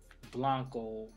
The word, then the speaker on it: Blanco: I am here at ORMC I'm also talking with Andre how's your last name pronounced Blanco BL a & Co Andre Blanco hey Andre